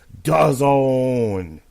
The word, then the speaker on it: DAZN: DAZN. What does it rhyme with? Calzone.